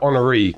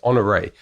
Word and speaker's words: Honoree: I think I've called her Honoree quite a lot in the interview, but then that's because most of the time you don't get an accent on the E for whatever, the email doesn't translate it. But I did see there was an accent on the E somewhere, so it's she very politely had never corrected me, but it's Honoree Corder.